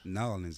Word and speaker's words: New Orleans: You don't say New Orleans, you say New Orleans. Norland. Norans. Norans. Is that the right way to say it? Norans, man. That's it.